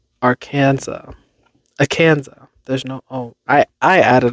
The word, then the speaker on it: Arkansas: Indian tribal names, but that Kansas chose to follow the standard English pronunciation marked by a hard A sound in can and vocalizing the final S, while Arkansas stuck with the original French pronunciation. It's the long French and Italian ah sound, wrote the Arkansas Historical